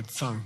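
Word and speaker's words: གཙང: And dictionary entry for Tsang, G-T-Z-A-N-G.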